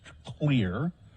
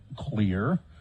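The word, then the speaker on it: Xlear: a Utah company and I think they're pronounced clear although it's XLE e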